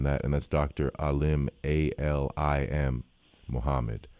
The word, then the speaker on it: Alim: Alim, A-L-I-M, Muhammad. Yes, and it's pronounced Alim.